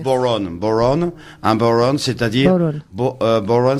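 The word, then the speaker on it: bodhrán: Ça s'appelle c'est en gaélique, c'est un instrument gaélique qui s'appelle, ça s'écrit bodhran, mais enfin ça Oui, se prononce voilà. boron.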